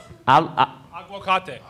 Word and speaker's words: aguacate: How do you pronounce that again? Aguacate.